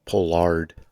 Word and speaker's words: Pollard: I think it's pronounced Pollard. It is pronounced Pollard.